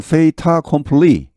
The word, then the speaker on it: fait accompli: 발음은 fait accompli, fait 이렇게 T하고 A가 붙어서 납니다. 이제 불어에서는 연음이라고 하는데 뒤하고 이렇게 붙어서 모음하고 fait accompli, 기정사실로 받아들이기를 원한다.